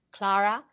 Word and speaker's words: Clara: don't miss out and now our conversation with Clara welcome back I'm Gary Parr and I'm